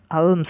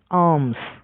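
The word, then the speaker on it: alms: তারপর এএলএমএস, আলমস নয়, আর্মস মানে ভিক্ষা।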